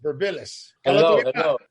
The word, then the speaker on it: Birmpilis: That's how you pronounce Burbillis. Burbillis.